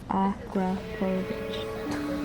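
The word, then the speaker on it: Akrapović: In case y'all didn't know how to pronounce Akrapovic, they got it spelled out for you. Akrapovic.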